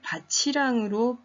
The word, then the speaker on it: 밭이랑: 이 밭이랑을 밭이랑으로 발음을 했을 때는 어떤 의미냐면 밭이랑 논이랑 이런 의미의 밭이랑입니다.